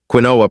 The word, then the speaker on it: quinoa: Quinoa, pronounced quinoa, has been nourishing humans for thousands of years.